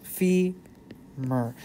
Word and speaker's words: femur: that's the femur bone femur spelled like this fee Mer but that's the name